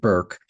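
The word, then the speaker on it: Bourke: I've been calling it Burke for a dozen times and I have to keep remembering that she pronounces it Burke.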